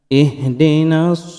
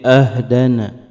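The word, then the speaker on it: اهدنا: Ihdinas siratal mustaqim. Pembacaan ihdina mesti dengan harokat yang jelas ya. Jangan sampai intonasinya kurang jelas sehingga berubah menjadi ahdana, menjadi fathah.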